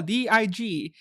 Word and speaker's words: DIG: So, this will be all for DIG. They have to pronounce it DIG because otherwise it sounds like DIC K.